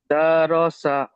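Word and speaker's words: دَرَسَ: আচ্ছা দা র সা পড়লেন আপনি, দা র সা, এরকম নয়।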